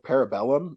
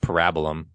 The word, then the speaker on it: Parabellum: I still don't understand the subtitle of Parabellum in the third one. I think it's actually pronounced Parabolum.